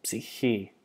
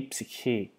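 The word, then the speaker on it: ψυχή: So again, the ypsilon is not pronounced as a U, but as an iota or an English I when we have a long I. So psihi, e psihi, the soul, the life.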